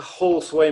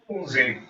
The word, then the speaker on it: Halsway: How often does Paul get to Halsway Manor in Somerset? I have to correct you there, David. It's pronounced Halsey.